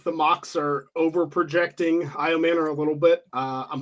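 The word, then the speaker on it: Ayomanor: elec IAM Manor uh Shane you are the pronunciation King how do I pronounce it and how I Manor I man I Manor okay so how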